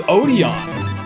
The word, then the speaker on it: Odion: Yeah, actually, because Odian did kill that run. Oh, it was Odion. Oh, yeah, Odion. I'm sorry, I'm pronouncing that weird.